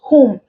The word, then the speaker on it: whom: who W is silent whom W is also silent so the odd word